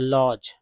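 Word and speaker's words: lodge: में L silent है, डी जी में डी साइलेंट है तो लॉज।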